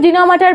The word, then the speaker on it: denouement: আজকের টপিক হচ্ছে জেনোমা হয়তো উচ্চারণের সাথে স্পেলিংটার কোন মিল নেই এটা মানে এমনি পড়তে গেলে ডিনোমেন্ট এমন উচ্চারণ হয় বাট